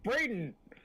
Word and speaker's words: Braden: My name is Braden. Braden. Braden. Braden. Braden. It's braid with on, and you get Braden.